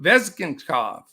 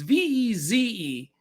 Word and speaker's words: Vezenkov: And the Kings, Alexander Veshka. I knew it. Vezgenkov. There you go. It's Vezenkov. Now cover your right eye.